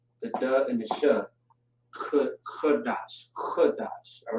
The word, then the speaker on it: Qadash: D and the Sh, which is gonna be dash, not dash necessarily, but it looks the same, just pronounced differently. Qadash, and then we have